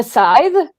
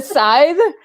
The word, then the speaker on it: scythe: But the scythe, for the longest time I was pronouncing it scythe. The scythe.